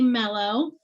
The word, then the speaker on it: Melo: i'm super excited to introduce you to stephanie mello is that how you say your last name